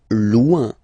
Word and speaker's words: loin: Loin. Loin. So remember when you get this combination O-I-N, it's ouin, ouin, ouin, okay?